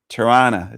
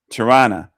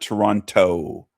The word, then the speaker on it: Toronto: Torana is the way they call it. Torana. Not Toronto. Toron. Toronto. It's the way some Americans say it.